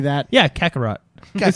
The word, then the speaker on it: Kakarot: Yeah, Kakarot. It sounds Kakarot. French. Kakarot. Well, maybe- Kakaro. Kakaroo. Maybe Goku. Does the T silent? Kakaroo. That's how it's said.